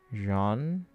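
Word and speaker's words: Jaune: Also, you're pretty close to the pronunciation, which is French for yellow. Jay, should we pronounce like the S in the word treasure? So, Jean. Oh, have you met L yet?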